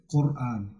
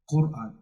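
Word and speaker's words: Qur'an: This is the same word used in Quran. Quran. We don't say Quran. We say Quran. It's deeper. Yeah, Quran. Quran. Yeah. Quran.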